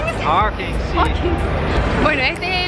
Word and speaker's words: Hawkins: Hawking. Hawkins, sí.